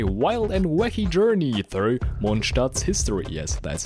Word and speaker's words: Mondstadt: you on a wild and wacky Journey Through monat's History yes that's how you pronounce it consisting of events such as incidents